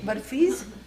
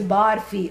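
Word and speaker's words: बर्फ़ी: burfis, when you make burfis. And please don't say barfi, okay? That has a different meaning.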